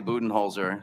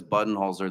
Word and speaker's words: Budenholzer: in the room uh it's a long story but I say booten hols her and if anybody says button holer that's fine also um if anyone says buttoner that's fine I'll probably get in